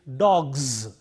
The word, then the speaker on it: dogs: voiced sound, and therefore the plural form takes a z sound, which is plural. Therefore it is dogs.